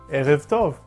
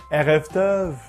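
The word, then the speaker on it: ערב טוב: Not too far back or too strong in the throat, otherwise you might get a French accent. Erev Tov, Erev Tov.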